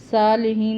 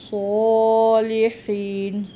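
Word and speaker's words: صالحين: زیر آ رہی ہے، صالحین نہیں پڑھنا، صالحین، صاد ادا کرنا ہے، ہا جو ہے یہ حلق سے ادا ہوگا۔ آگے اس کے بعد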